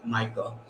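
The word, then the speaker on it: Michal: as his wife uh spelled a little differently and it was in that it's m-i-c-h-a-l but pronounced michael that he had taken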